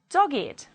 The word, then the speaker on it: dogged: If they are adjectives, they do not follow the rule and they will be pronounced with id, it. Let's read it as adjectives. Aged, blessed, crooked, dogged, learned, naked, ragged, wicked, and wretched.